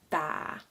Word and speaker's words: tää: So just remember, since it's a double a, just stay on that pronunciation a little bit longer. So instead of saying tä, you would say tää, tää, tää, tää, tä, tää, tä, tää, tää kynä.